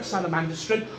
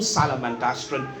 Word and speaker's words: Salamandastron: The second major, or second key locale is Mount Salamandastron, or Salamandastron. Both pronunciations are considered acceptable.